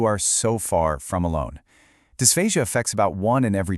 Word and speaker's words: dysphagia: So dysphasia and it's pronounced dysphasia is the official medical term for any kind of trouble with swallowing.